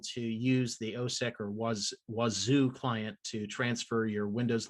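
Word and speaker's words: Wazuh: Then OSEC and Wazoo, it's pronounced Wazoo. I keep thinking Wazaa, but it's a host-based IDS, and it has a really nice method of authenticating to the server.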